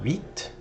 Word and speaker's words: huit: H in French is never pronounced. So huit, neuf, 10, instead of an X, this is an S sound.